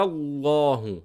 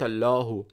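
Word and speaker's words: الله: Qul huwa, wa, qul huwa allahu, not allahu. As I said, the lam is very light in the Arabic language, but the only word in which I pronounce the lam very heavy is the word of Allah, because that suits the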